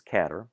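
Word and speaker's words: cdr: car we do pronounce this one this is catter we pronounce some of the others um this one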